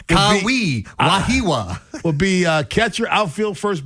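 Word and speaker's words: Wehiwa: I think it's Wahiwa. Wahiwa Aloy. I think that's how you pronounce it.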